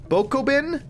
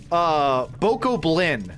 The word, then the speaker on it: Bokoblin: Goblin with a Bach instead. Bokoblin. Bokoblin these nuts.